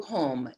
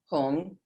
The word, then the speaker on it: Hum: At her heart, a blue Hum, H-U-M.